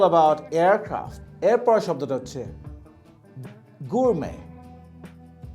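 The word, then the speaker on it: gourmet: aircraft এরপরের শব্দটা হচ্ছে গুরমে জি ও ইউ আর এম ই টি শব্দটার উচ্চারণ কি হবে গুরমে নট গুরমেট গুড়ে পার্সন হু লাভস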